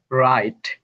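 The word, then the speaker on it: wrong: অর্থাৎ এটা হবে রাইট। ডাবলিউ হবে না আর হবে। তার মানে এটা হবে রোট। ডাবলিউ হবে না। আর হবে এটা হবে রং। ডাবলিউ হবে না আর হবে রক।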